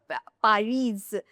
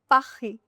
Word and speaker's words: Paris: It's not Paris. Most of the beginner students say Paris. No, it's not Paris. It's Paris. Last letter S is silent.